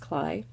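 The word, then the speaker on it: Klay: Yes, it looks like clay, but it's actually pronounced Cly.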